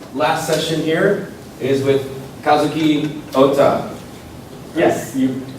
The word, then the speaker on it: Kazuki Ohta: All right, so this last session here is with Kazuki Ohta. Yes, you pronounced Pretty perfect.